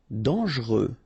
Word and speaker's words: dangereux: correct, dangereux. Okay, so final X not pronounced, and then don't really pronounce this here.